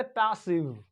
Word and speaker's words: passive: लेकिन ये जो आई है ये लॉन्ग आई नहीं है, ये शॉर्ट आई है। क्यों? क्योंकि ये बड़ी स्पेलिंग है, ये कई सिलेबल के बने हुए वर्ड है, इस वजह से इसमें ऐसा पढ़ा जाता है।